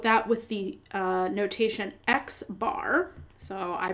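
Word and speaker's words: x̄: we would denote that with the uh notation xbar so I pronounce that as X bar or if it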